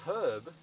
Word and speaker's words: Herb: If your name is Herb, it's pronounced with the H in the USA.